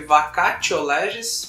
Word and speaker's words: vacatio legis: Para essa vacância no direito, nós chamamos de vacatio legis. Tá? Se escreve vacatio legis, mas se fala vacatio legis.